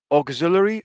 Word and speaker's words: auxiliary: those things so again augzularly verbs this is how you say it auxiliary propositions propositions such as